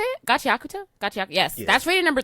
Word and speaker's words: Gachiakuta: Gachiakuta.